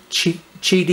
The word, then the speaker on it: Qidi: video GD x max GD is spelled Qi di you can look it